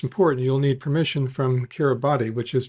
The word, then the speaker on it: Kiribati: But before that, most important, you'll need permission from Kiribati, which is pronounced Kiribati, since the island is part of that sovereign